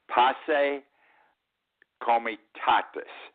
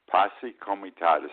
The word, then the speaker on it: Posse Comitatus: the book since about 1880 is called the passe Comitatus Act the correct pronunciation Posse Comitatus Act because back then they didn't want the